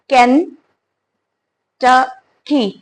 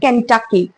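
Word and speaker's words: Kentucky: इज कन ट की so many of the people will pronounce it एज केंटकी how ever its not know pronounced as केंटकी it's pronounced as केंटकी कन टाकी instead of saying a you have to से आ like this न ठ की कंठ की नाउ the second one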